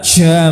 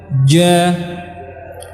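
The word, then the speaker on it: ج: Ca misalkan, ca ini salah. Ca, tapi yang benar ja, aje, bukan ace ya.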